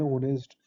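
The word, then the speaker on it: honest: कोई ही इज़ एन ऑनेस्ट मैन तो इस एग्जांपल में तो देखेंगे इसमें ऑनेस्ट के साथ एच है जो वो साइलेंट है तो इसमें एन आएगा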